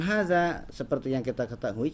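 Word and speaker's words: هذا: seperti yang kita ketahui cara pengucapan Haza itu hanya itu dua harokat jadi Hanya dua harokat kemudian zatnya dua harokat geraknya dua harokat pas tidak dibaca Dua harokat karena jelas di depannya ada tulisan Alif ya Nah hanya walaupun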